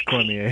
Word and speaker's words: Cormier: Or Cormier, however you want to pronounce it. It's Cormier.